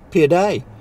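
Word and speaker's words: pide: what a part is it's actually pronounced P a day and it's like a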